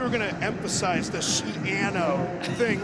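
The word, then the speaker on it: Schiano: partner, I thought you were going to emphasize the Shiano thing right at the beginning. We learned right before kickoff. Shiano rhymes with piano.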